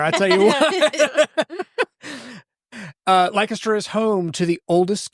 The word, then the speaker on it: Lancaster: You got to put the kiss in Lancaster. That's a marketing mind right there. I tell you what. Uh Lancaster is home to the oldest continually operating what in the United States?